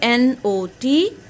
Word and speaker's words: knot: o and the sound of t so k n o t yes tell me not not this is a